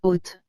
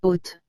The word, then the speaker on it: haute: le prononcé ainsi haute vous remarquez que la lettre h avec le haut avec accent circonflexe se dit oh et que la lettre t suivi de la lettre e doit se prononcer te donc toutes ces lettres ensemble donne haute toujours sans prononcer la lettre e à la finale selon ce que je